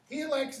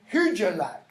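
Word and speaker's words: Hygelac: Helak's name. You'll hear it pronounced two different ways. Helak, the way I'm pronouncing it, and Hirjalak.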